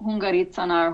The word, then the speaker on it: Hungaricana: Yeah, so Hungaricanar, Hungarikana, it's Hungaricana, Okay. so kind of spelled like Hungarikana, Yeah.